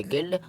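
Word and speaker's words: guild: इसी तरह गिल्ड और गिल्ट। अब वी लेटर हमारा कभी भी साइलेंट नहीं होता है।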